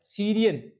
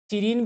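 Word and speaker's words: serene: अच्छा, सीरियन, सीरीन भी जिसको बोलते हैं, सीरियन भी बोलते हैं, लेकिन इसका एक्चुअल प्रोनाउंसिएशन होता है सीरीन।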